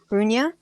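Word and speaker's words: Runa: You see the name Runya, which is spelled R-U-N-A, Runya.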